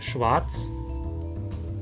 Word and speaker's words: Schwarz: Mas em Schwarz, eu não pronuncio porque tem outra coronal.